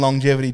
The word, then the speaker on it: longevity: Why do we pronounce the letter G in longevity twice? And we don't. Actually, yeah. We only pronounce it once.